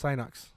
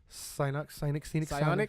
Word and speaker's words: Psyonix: I'm pretty sure it's Synox. Am I saying it right, Mikey? But by who? Psyonix. Psionics.